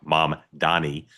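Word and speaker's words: Mamdani: By the way, when people hear me say it, and you don't think I'm saying it right, it's my Maryland accent. I know exactly how to say his name, Mom Donnie.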